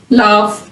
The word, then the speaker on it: laugh: Sometimes GH is pronounced like an F। अक्सर औकात GH जो है वो मिलके F साउंड भी बना देते हैं, जैसे laugh, tough, rough।